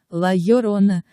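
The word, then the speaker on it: La Llorona: это и это три ла ла рона произносится лойола ровная лай урона с ударением на предпоследнем слове и легким грассе раване им e455 4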